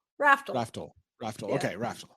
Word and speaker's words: Raftl: It's Raftl. Raftl.